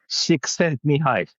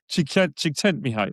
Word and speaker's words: Csikszentmihalyi: I'm going Mikhail to he's called Mihi Csikszentmihalyi. Csikszentmihalyi. Exactly. Yeah, He has I mean, I'm a I'm really 100% sure I unpronounceable got last that name.